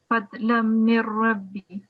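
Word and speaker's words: فضلا من ربي: So the first is if we've got a noon sakin before the ra mushaddad, we wouldn't be pronouncing the nasal sound. So it would be fadlam mir rabbi.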